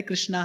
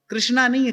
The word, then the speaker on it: कृष्ण: कह रहे थे हरे कृष्णा हरे कृष्णा कृष्णा कृष्णा हरे हरे तो एक पंडित जी बैठे थे वहां पर उने क नहीं नहीं ये ठीक उच्चारण नहीं है कृष्णा नहीं है कृष्ण है आप हरे रामा हरे